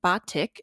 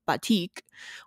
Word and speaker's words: batik: you might be wondering why nicole and i are pronouncing it as batik instead of batik or batik the latter is just another instance of a foreign word being westernized or anglicized kind of like nicole